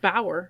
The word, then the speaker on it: Bouwer: So, it's b o u w e r, which could could just be pronounced Bower.